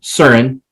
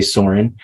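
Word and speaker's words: Søren: uh Soren uh or CERN if you pronounce it properly uh as the as the Danes would um but we're in the United States so we say Soarin uh the first conversation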